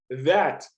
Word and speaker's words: that: Todos os THs aqui têm a mesma pronúncia, tá? É a abelhinha. O D, entre os dentes, tá? Esse é that.